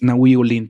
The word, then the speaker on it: Nahui Ollin: el mismo bautizó como nahui ollin o nahui ollin pero yo creo que es nahui ollin todo mundo lo pronuncia así también es es nada